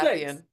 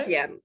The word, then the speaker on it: Arapian: So, today I'm here with Arapian. Was this right? so close. Close. Arapian. You got it. Arabian. Okay, almost.